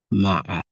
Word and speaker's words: مع: where the ain is made sukun, ma. And in Arabic, a tribe called Rabi'a and Tamim, they pronounce it as ma. They don't put fatha on the ain, and it's still being